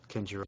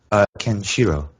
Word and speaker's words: Kenshiro: Oh, by the way, it's Kenshiro. Kenjiro, did I say it wrong? Kenshiro.